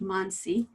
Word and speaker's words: Mansi: name is monsi it's pronounced monsie and i like to